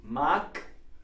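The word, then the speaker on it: mag: maxed see ma yeah it's written with the G but it's pronounced as it was a K this is a phenol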